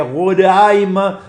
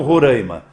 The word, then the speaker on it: Roraima: Como hoje um jornalista pediu que a gente pronuncie corretamente o nome do estado, que é Roraima e não Roraima.